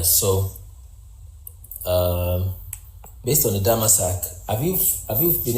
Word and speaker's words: Damascus: The real pronunciation for Damascus is Damasak.